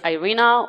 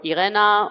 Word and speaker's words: Irena: My name is Irena, or Irena, or Irina. It depends on how you can pronounce it. All work.